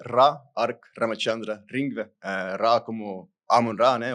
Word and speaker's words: Ra Ark Ramachandra Ringvee: Então, meu nome é Ra Ark Ramaxandra Ringve.